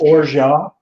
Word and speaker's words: orgeat: This is an almond liqueur from France, spelled orgeat, but it's pronounced orgeat.